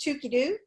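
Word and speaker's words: Toogoodoo: that spelled TL o goog oh oh but pronounced Tookie dude and so this is really a lot of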